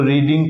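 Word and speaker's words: read: देखिए, main verb का B3 बन जाएगा, तो रीडिंग का क्या हो जाएगा? रेड। तो रीड, रेड, रेड, स्पेलिंग एक ही जैसी होती, प्रोनाउंसिएशन में अंतर है बस।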